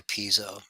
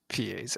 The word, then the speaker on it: piezo: When I went to school, it was Pizzo. It's just because the people that taught the class didn't know how to say it either. Yeah, I guess not. Talking about piezo? Yeah. It's like Pizio is the worst one. It just adds a whole nother I in there somewhere.